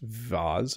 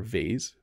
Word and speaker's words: vase: even in a nice vase or vase two pronunciations there um but yes Jen